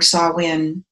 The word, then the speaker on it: Samhain: It is a festival of the dead, and to honor our ancestors means summer's end and pronounce Samhain or saah-win.